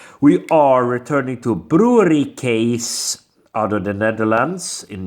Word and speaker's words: Kees: that lovely looking artwork is a case not keys case that's how you pronounce it look at that look